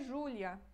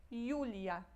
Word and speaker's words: Julia: Julia aqui de novo cuidado com a pronúncia não é Júlia em polonês é é jlia Júlia não tem acento